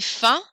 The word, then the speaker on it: faim: You don't pronounce the M in faim. Est-ce que vous avez faim?